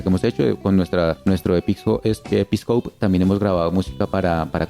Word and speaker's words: Episcope: Bueno, para la banda Episcope, se escribe así como está sonando, Episcope, Fusion Trio, Episcope.